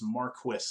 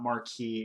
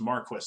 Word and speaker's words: Marquis: mispronounce mispronounce his name all the time it's Marquis that's how it's pronounced that is the correct pronunciation it's not Marquee it's not Marquis or anything weird like that it's just Marquis that's how you that's how you do it